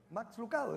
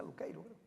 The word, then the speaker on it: Lucado: Uno de los libros que me gusta, y lo digo muy a menudo, de Max Lucado, yo le digo Lucado, pero como en inglés se pronuncia Luqueiro.